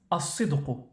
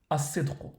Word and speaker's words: الصدق: En arabe, la sincérité se prononce as-sidqu, as-sidqu.